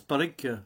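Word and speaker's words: Pádraic: Alors ça se prononce Padraig, ça s'écrit Padraig si vous voulez, mais c'est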